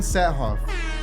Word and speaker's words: Saathoff: I'm excited to bring my guests today satoff nailed the name pronunciation by the way dude speaking of your